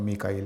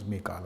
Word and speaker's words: میکال: دوں۔ جبرائیل اور میکا، جس کو ہم میکائیل کہتے ہیں، قرآن مجید میں اس کا تلفظ میکال آیا ہے۔ تو جبرائیل علیہ السلام